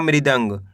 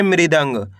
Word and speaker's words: मृदंग: तिल के बन जाएगा मृदंग। कैसे पढ़ेंगे? मृदंग।